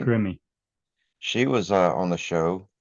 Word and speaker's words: Grimmie: and yeah, well, Christina, how do you pronounce that? Gimme? Grimmie.